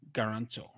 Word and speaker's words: guarantor: There is also one word that ends with the letters OR with the stress on it, and that is guarantor.